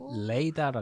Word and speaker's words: Leda: 특이하네. 레이다라 그러는데. 레이다. 레이다. 그런 이름 처음 들어.